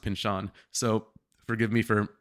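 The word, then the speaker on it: Pynchon: heard his name spoken so I always said Pinchin Pinchin Pinchin I started talking to people like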